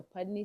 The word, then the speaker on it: Putney: know yes so the school is called the pudney school and it's in pudney Vermont wow wonderful excellent so from there you